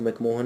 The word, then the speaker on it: McMahon: तो चाइना और अरुणाचल प्रदेश के बीच में एक लाइन है, जैसे कहा जाता है मैकमोहन line. Actually this is the spelling of मैकमोहन इज MCMAHON, Henry मैकमोहन।